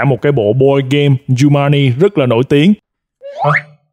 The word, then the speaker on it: Jumanji: Nó phát âm là Jumanji nha các bạn. Jumanji.